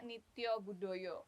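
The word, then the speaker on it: Nitya Budaya: Bang Ageng ee kita bacanya Nity Budoyo.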